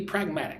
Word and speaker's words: pragmatic: So, pragmatic. Three syllables. Notice how uh the T is fairly soft. Pragmatic. It's almost like a D, duh. Pragmatic. Pragmatic. But the emphasis on the second syllable, the stress on the second syllable, mag.